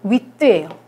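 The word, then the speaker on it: huit: 8은 위트예요. 8도 역시 발음이 돼요.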